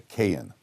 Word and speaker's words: Kagan: But the G in Russian is a silent G. So the Kagan, we pronounce it Kagan because it's got a G in it. There's a Jewish name, Kagan. But in Russia, it's a silent, so it really comes out to Kayan, because the Chafetz Chaim was a Kohen.